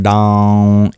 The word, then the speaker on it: Dam: For the bija, the seed itself, you curl your tongue back to pronounce it.